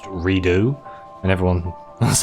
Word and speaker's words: Redux: remember when Metro Redux came out, it's actually pronounced Redo, and everyone was like, oh. I love the way that still, to this day, most people call it Metro Redux.